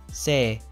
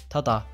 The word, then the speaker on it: 正: history of these kanji today's kanji is correct pronounced sei tata this kanji is taught in the first grain